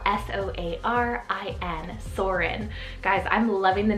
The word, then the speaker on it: Soarin: for b is the name soren it's called s-o-a-r-i-n soarin guys i'm loving the names that you